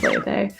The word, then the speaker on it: Laufey: It's spelled Laufey, but pronounced Laufey.